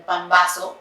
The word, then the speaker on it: pambazo: Como último dato de la panadería mexicana, a lo que ahora le llamamos pambazo, que lo escribían con doble S, pambazo, que actualmente lo pronunciamos como pambazo con Z, significaba pan bajo, era un pan para pobres, considerado y siendo el pan más antiguo.